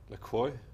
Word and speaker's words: La Croix: It's called Le Croix. Or as I pronounce it La Croix, La the Croix? very French way.